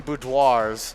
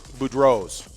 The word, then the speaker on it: Boudreau's: i'm saying it wrong we've been saying boudoirs yeah and it's boudreau's food rose bar in